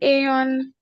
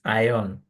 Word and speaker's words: ion: You were mentioning Aon and ion. Which one? Like can you tell us the difference between the correct? The correct pronunciation is ion, not aon.